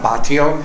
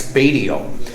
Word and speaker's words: Batio: was a Michael and my my um English pronunciation of my last name is not Batio it's badio so there are Michelangelo badio Impostors on Facebook